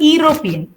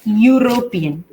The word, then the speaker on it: European: university then it's not European it's European European so European you again the Y sound is coming it's a consonant sound that's why you are